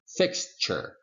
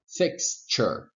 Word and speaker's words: fixture: now observation number three take a look at the ending of this word fixture you have tu r e tu r e is most of the time in final position pronounced with this phonetic symbol with this sound here we go and then we would say fixture I'm sorry about my pointer fix sure fix sure fixture fixture now here observation number